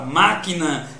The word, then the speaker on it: máquina: Existem palavras como, por exemplo, a palavra máquina, que a sílaba tônica é má.